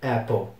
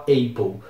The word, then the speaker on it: Apple: de de computadores e muita gente fala Apple mas não é Apple é Apple mesmo eles têm uma maçã